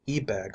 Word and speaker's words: Ebag: secret history of the ebag marriage is now printed for the first time the ebag family who prefer their name to be accented on the first first syllable once almost ruled old